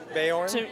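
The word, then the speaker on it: Beorn: he's a skin changer what does it take bayonne yes thank you what does it take to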